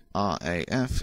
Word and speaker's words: RAF: to the M40 Motorway RAF is pronounced as separate letters the base is occupied